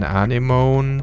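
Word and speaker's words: anemone: sees an enemy anona and please note it's pronounced many an animon sees an enemy animon animon those colorful sea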